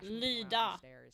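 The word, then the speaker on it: lyda: If I were to say it in Swedish, Luda means obedience. The way that he it's spelled on L Y D A means obey in Swedish.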